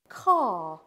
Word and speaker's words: car: like calm or talk the r is silent for me in my accent in a word like car but even these are